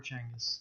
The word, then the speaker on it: Genghis: So Genghis is Genghis or Chenghis. Yeah. It's either or.